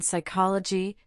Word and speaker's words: psychology: In words derived from Greek, the initial P in the diagraph PS is silent as in psychology. pterodactyl and pneumatic.